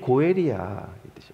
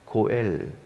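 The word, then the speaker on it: גואל: 땅을 되찾아 줄자라는 뜻이에요 원어는 고엘이라고 발음합니다 히브리어에서 그는 우리의 고엘이야 고엘 고엘 나미는이 가능성을 보고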